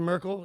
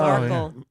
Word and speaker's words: Markle: Meghan Merkel. Oh, Markle. Markle. Rhymes with Sparkle.